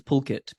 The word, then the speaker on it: Pulkit: no one could pronounce my legal first name, which is Pulkit, Pulkit. And two syllables, no one could pronounce it.